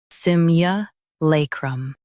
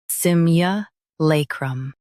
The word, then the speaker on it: simulacrum: Both US and UK have the same pronunciation of this word, SIMULACRUM. Now read the syllables shown on the screen naturally. Sim, lay, crumb. SIMULACRUM. Emphasize lay and soften crum.